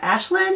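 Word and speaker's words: Aislinn: back this is the uh ashland it's called but it's spelled a-i-s-l-i-n-n um it's the back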